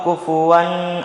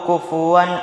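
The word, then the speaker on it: كُفُوًا: lagi jadi jangan didengungkan jangan dibaca lahu kufuan Ahad salah yang benar lahu kufuwan Ahad terjadi apabila adanya nun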